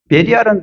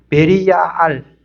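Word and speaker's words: 벨리알: 세 번째가 중요합니다 베리입니다 베리알은 그리스도와 완전히 반대되는 개념 이거는 발음이 이렇습니다 베리알 베리알 무가치하다 사악하다 이런 뜻이에요 사악한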